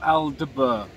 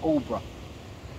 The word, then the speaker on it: Aldeburgh: and fishing tonight i'm in all bruh suffolk or if it's spelled aldebar everyone calls it all bro um i've come to